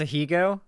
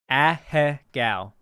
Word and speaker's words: ahegao: Oh, it's pronounced Ahigo? That makes that rolls off the tongue a lot better than Ahegao. So it's Ahigo. No? No? How do I pronounce it? Ahegao.